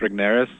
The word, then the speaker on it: Regnerus: No, Tim, early on in the book, you talk about the research, and I'm probably going to mispronounce his name, but is it Mark Regnerus?